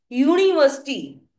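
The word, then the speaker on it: university: अगर आप इसको प्रोनाउंसिएशन देखो तो हम कहते हैं यूनिवर्सिटी। वाई से शुरू आवाज जो आ रही है वो वाई से शुरू होते हुए आ रही है, तो बच्चे इसके आगे लगता है।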